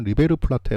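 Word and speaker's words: River Plate: 라고 8용 을 하는데 남미 발음으로 리베르 플라 테 라고 하더라고 리베르 플라 테 랑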